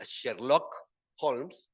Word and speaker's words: Sherlock Holmes: Este, el centro es, bueno, en realidad se pronuncia Sherlock Holmes, ¿no?